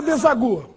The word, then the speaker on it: deságua: Deságua, desagua. Bom, nesse caso, a pronúncia oficial é deságua. O agudo no A. O mesmo vale para o caso seguinte.